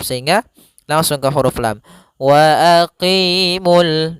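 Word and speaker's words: وَأَقِيمُوا: wa aqimul dan tidak boleh mul karena di sini wnya tidak dianggap lagi.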